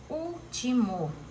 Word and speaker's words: último: Se o mo fosse acentuado, seria a primeira. Se o ti fosse acentuado, seria a segunda. Como é a terceira, eu vou lembrar que é a proparoxítona.